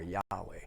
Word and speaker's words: Yahweh: yhvh which and then if you put in vowels it would be pronounced yave or yahweh but they didn't pronounce